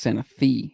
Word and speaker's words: Santa Fe: Santa Fe in Tennessee is pronounced Santa Fe. Is it? Did I say Santa Fe?